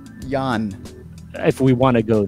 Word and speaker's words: Jan: in time corrected that his first name is pronounced Jan.